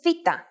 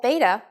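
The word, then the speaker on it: βήτα: Its name is Vita. In English, it is commonly called beta, but in fact, this letter has a V sound.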